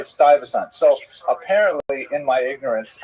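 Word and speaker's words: Stuyvesant: Stasant. So apparently in my ignorance I said Stoant which is I I I you know I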